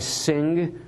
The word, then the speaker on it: Singh: times whose name is vijay singh with a silent h at the end nailed that one so